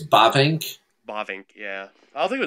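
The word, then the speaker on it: Bavinck: Bavink, yeah.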